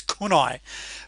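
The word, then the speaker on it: CANI: However, I also do believe in Kanai. Now, I believe Tony Robbins pronounces that slightly differently. I think it's kunai, which stands for constant and never-ending improvement.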